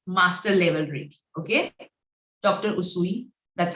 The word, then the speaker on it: Usui: Usui, that's how I pronounce Dr.